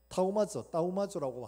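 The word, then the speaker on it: θαυμάζω: 여기 이상히 여기셨다 하는 말 따우마조라고 하는데 이 발음이 우리 영어에 thank you 하는 그 발음이에요.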